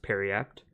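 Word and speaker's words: Periapt: is pretty good for next item is the parry apt of vitality yes it's pronounced parry apt in case you didn't know that 350 gold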